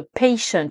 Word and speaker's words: patient: au-delà du fait que dans patient on prononce le T à la fin c'est la façon dont on prononce la lettre A au début donc dans patient c'est le son a de l'alphabet anglais le